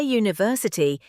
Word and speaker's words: university: A university. Because we say university, it starts with a Y sound.